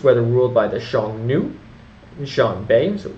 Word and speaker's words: Xianbei: Xianbei Tuobo clan, that's Xianbei, and Xiongnu, as we mentioned, is Xiongnu. And I pronounce it Xiongnu and Xianbei. That's my best pronunciation I can do thus far.